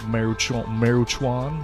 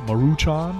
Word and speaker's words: Maruchan: of All Brands I like top I like maruchuan Maruchan I don't know if I'm but the pronunciation we're being very bad Asians right now